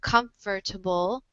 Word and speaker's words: comfortable: like in the word, you pronounce it like comfortable. This word or this this vowel here um, that you pronounce like comfortable. So this a sound is kind of erased. It's kind of become silent over the years. The schwa has kind of just disappeared. So now in the United States, it's just pronounced with 3 syllables instead of 4.